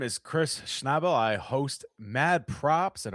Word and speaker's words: Schnabel: But I do for the A to be pronounced as nay, it would have to be n a y, n a e, or at least an